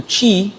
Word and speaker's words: Qi: And so that is pronounced Qi, C-H-E-E, right? If you're doing it phonetically.